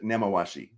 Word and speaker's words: Nemawashi: about the pronunciation of the Japanese concepts? Yeah, so it's Ringi Saido and Nemawashi.